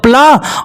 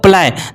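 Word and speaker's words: play: से हो जाएगा या तो ये हो जाएगा प्लाई नहीं बच्चों ये इंग्लिश की डिक्शनरी का शब्द है इसे आपको समझना होगा इसे थोड़ा बहुत आपको याद करना पड़ेगा तो चलिए मैं आपको यहां पर बताता हूं कि इसका सही प्रोनंसिएशन क्या होगा तो इसका जो सही प्रोनंसिएशन होगा बच्चों ये हो जाएगा प्ले क्या हो जाएगा बच्चों प्ले और प्ले का मतलब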